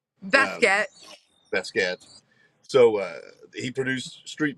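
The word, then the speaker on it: Baskette: Is that how you say it, Basket? Basket.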